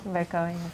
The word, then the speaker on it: Baikova: Baikova. Et Good pronunciation.